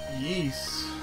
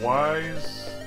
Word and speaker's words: Ys: I say it yeast. Like pronouncing the Y sort of like an E sound, like east. But I've also heard people call it wise, which could also work as a sort of fantasy spin on the word wise. There's also yes.